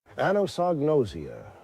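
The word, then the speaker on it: anosognosia: Here's Robert Stack's pronunciation. Anosnosia.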